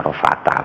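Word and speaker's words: عرفات: jadi tetap pakai din kalau Arafat itu dianggap nama Memang namanya Arafat tidak dianggap isim jamak muannas salim ya bacanya arafata begitu.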